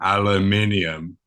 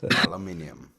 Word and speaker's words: aluminium: By the way, I found out that the tinfoil thing which is made from aluminum. Yes. Aluminium. Is that the pronunciation in South Africa, too?